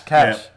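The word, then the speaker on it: cache: um I know that the American pronunciation is Cas sorry cash cash so you get your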